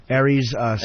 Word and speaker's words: Aries Spears: Aries Spears.